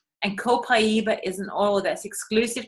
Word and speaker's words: copaiba: it's spelt co Pai be a and is pronounced copaiba and they cooperative it comes from microphone consent